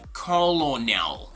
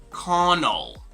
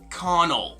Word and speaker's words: colonel: l and o so this is not going to be colonel but rather connoll okay connell can you say that